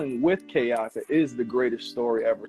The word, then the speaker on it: Keaka: Keaka.